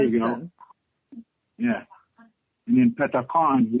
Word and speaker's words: Pethakhon: And then Pethakhon, which you say it like you're thunder. That's what the word is. So you give it that forcefulness.